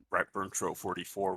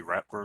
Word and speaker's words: Ratburntro44: people say my name I guess R burn TR 44 would be the fully correct pronunciation people other places just call me rap people in this community I guess say rap bur which I guess is because that's just what nixel happen to say first probably oh okay so